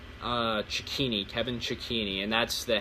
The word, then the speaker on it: Cecchine: of my first of my last name or how you pronounce the first part of checkpoint news so it's c ec